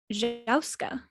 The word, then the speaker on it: jouska: So I believe it is pronounced Jouska. What? Jouska. So it's like joust, but with a K-A and then a J sound. So Jouska, Jauska.